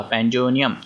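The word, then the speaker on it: pandemonium: यहाँ पे एम जो है वो साइलेंट हो जाएगा, ठीक है, ऐसे उच्चारण होगा पैंडोनियम, ठीक है, पैंडोनियम, ठीक है।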